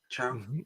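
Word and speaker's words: Chao: Chow?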